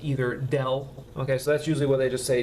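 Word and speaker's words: ∇: And by the way, this little symbol right here, when you're pronouncing this, this would be pronounced either del.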